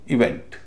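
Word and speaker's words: event: पहले हम देखते हैं कि जब ई शुरुआत में होता है, जैसे इवेंट। इवेंट में हालांकि नाउन है, लेकिन अपवाद के तौर पर इसमें स्ट्रेस दूसरे हिस्से पर पड़ रहा है, इसलिए दूसरे हिस्से में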